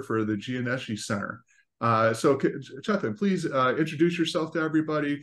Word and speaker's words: Chethan: And with me today during this interview will be Chethan Srikant. He's a PhD. Did I pronounce that right? Yeah, Chethan?